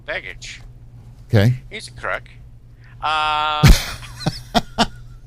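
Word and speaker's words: Begich: it's uh Senator Mark how do you pronounce his last name b g i c oh bage okay he's a crook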